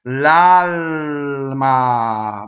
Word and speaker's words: l'alma: L'alma. What happens to that second L? It doubles, right? Touches a consonant. L'alma.